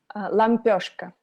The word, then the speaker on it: Лампёшка: Well, how do you pronounce the Russian version of it? Лампёшка.